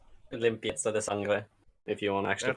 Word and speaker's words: limpieza de sangre: This story is called Limpese de Sangre. Limpieza de sangre, if you want to actually That's what I pronounce it.